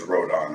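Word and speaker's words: Rodan: No, I'm saying, but they're I'm sorry, but it's Rodon.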